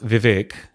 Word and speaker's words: Vivek: So it's pronounced Vivek in Sanskrit, and it actually means wisdom.